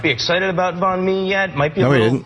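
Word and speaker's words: bánh mì: How do you pronounce this one? Oh, banh mi.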